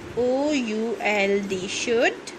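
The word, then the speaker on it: should: question number 2 है when, W-H-E-N, when, शुड, S-H-O-U-L-D, शुड, L silent होता है, when शुड वी,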